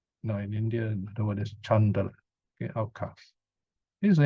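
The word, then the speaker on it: caṇḍāla: In India, the word is chandala, okay, outcast. This is an English word, so you have a CH, whereas in Pali and Sanskrit, there's no H, it's just C, but it's pronounced as chandala.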